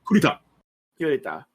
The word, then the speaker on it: Kurita: And like, I always mispronounce his name, so say me again. It's Kurita? Yeah, Kurita.